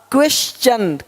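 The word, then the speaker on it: question: देखो यहाँ पे टी का क्या होगा, चा। क्वेश्चन, क्वेश्चन, अब क्वेश्चन नहीं बोलते, क्वेश्चन नहीं, क्वेश्चन, क्वेश्चन।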